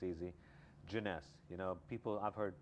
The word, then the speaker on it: Jeunesse: this is a joke all the time is pronouncing the name of the company everything else Falls in place it's easy janess you know people I've heard people say Genesis or J Jon Jonas it's hard to pronounce it's hard to get